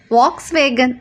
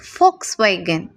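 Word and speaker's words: Volkswagen: அண்ட் இந்த பிராண்டை எத்தனை பேர் வாக்ஸ்வேகன் அப்படின்னு pronounce பண்ணிகிட்ருக்குறோம்? This is நாட் வாக்ஸ்வேகன், இட்ஸ் ஃபோக்ஸ்வேகன்.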